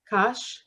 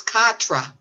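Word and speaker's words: quatre: Kosh? It's Katra, but Kosh. that would be in English. In French, it's Oh. Katra. All right. Well, I'll leave you to say it. Q-U-A-R-T-R-E or something like that. Katra.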